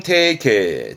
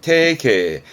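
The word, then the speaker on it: 提携: 가는 히게 되겠습니다 요거는 제자라 재휴 응 제휴입니다 발음은 태계 태계 제휴라고 많이 쓰잖아요 뭐 기술 제휴라 그 함께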